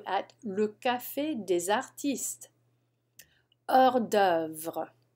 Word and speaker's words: hors d'œuvre: Hors d'œuvre. Hors d'œuvre.